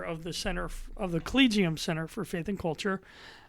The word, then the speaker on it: Collegium: I won't screw up can you can you pronounce it properly collegium yes not collegium I've even heard hard my collegium I heard yeah but I'm sticking with collegium but come on give